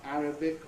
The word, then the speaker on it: Arabic: So they are Arabic, arithmetic, Catholic, choleric, not a common word, heretic, lunatic, politics, and rhetoric. You can remember those words, they break the rule.